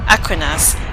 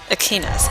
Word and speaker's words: Aquinas: want to really want to clarify it's not pronounced Aquinas it's pronounced ainus it's Thomas ainus so yeah just want to